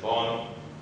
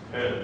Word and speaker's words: Bön: And Bön, Bon, neither of which are the way it's actually pronounced, it's pronounced Bön in Tibetan.